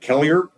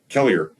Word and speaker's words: Kelliher: In Bemidji, they pronounce it Kelliher, but Kelleher, Minnesota, north of Bemidji, Kelliher.